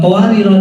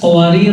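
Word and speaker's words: قوارير: bacanya beda jadi eh qawarir dalam surat al-insan ayat 15 qawarir huruf alif didahului huruf ro yang berharakat fathkah dibaca panjang pada saat wakaf karena ia ada di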